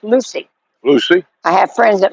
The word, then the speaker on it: Lucie: Gracie says Port St. Lucie is on the east coast of Florida, pronounced Lucy.